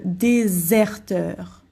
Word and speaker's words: déserteur: Ici, le S, on prononce comme un Z en fait, hein, comme un Z. Le déserteur.